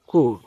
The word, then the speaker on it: corps: তবে যদি অতিরিক্ত কারো পড়তে মনে চায় তাহলে একটা ওয়ার্ড মনে রেখো যে কর্পস, CORPS, এর উচ্চারণ হচ্ছে কোর।